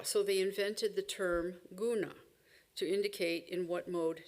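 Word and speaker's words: guṇa: So they invented the term gona to indicate in what mode nature was currently appearing. By the way, the word is pronounced with a palatal n.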